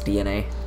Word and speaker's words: DeNA: talking about Nintendo and de de na which is now pronounce DNA but you know that's cooler